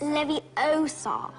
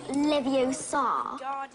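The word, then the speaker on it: Leviosa: I can totally relate you're saying it wrong it's Levy Oar not Lev Oar you do it then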